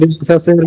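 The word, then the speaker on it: Renaissance: Printing প্রেসও তো রেনেসাঁসের মধ্যে পড়ছে, রেনাইসেন্সের মধ্যে। রেনেসা বলবা, হ্যাঁ, রেনেসা বলবা, আমি বুঝতে পারছি না। রেনেসা, হ্যাঁ, বানান যেমনই হোক উচ্চারণগুলো খেয়াল করবা। হ্যাঁ, রেনেসা, হ্যাঁ, রেনেসা এরকম বলবা।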